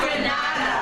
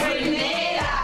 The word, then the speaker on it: Grenada: It's not Grenada. It's Grenada. Now, say it right.